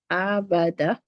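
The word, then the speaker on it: أبدا: If you notice, this has to be longer. Abada. This letter here, the a, is actually silent letter. There is no sound for it. The only thing that will give it a sound if you put a vowel on top, right?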